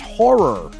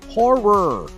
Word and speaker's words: horror: not you know it's it's a two syllable word folks there's and then there's horror horror you know make sure you emphasize that at the end of it you want [ __